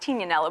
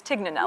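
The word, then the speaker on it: Tignanello: from a wine called actually pronounced teeny anello but everyone says TIG nanou yeah yeah it had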